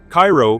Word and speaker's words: Cairo: Cairo, pronounced like the syrup, not the Egyptian capital, sits at the southern tip of Illinois, where the Mississippi and Ohio rivers meet.